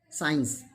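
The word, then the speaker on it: science: take the example signs when there is s and c both are adjacent then c is silent signs next one is ascend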